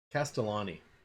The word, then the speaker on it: Castellani: name i didn't bother to learn how to pronounce castellan castellani not to be confused with castellanos but ryan